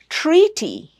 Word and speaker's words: treaty: Treaty. Treaty. Not titty. Don't make it titty. It's treaty.